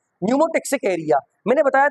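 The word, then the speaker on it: pneumotaxic: Area और न्यूमोटक्सिक area P silent है इसमें और मेडुल्मिसिक एरिया का काम क्या था?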